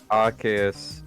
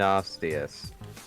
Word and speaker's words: Arceus: I mean, I've heard Arceus and Arceus. Well, Arceus is essentially what most people think it should sound like. Arceus is what Nintendo says it is. The reason Yeah, I would always say Arceus. the reason they say it's Arceus is because Arceus has arse in it.